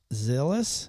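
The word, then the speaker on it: Zilis: Musk also also has four children with Siobhan Zillis or Zil.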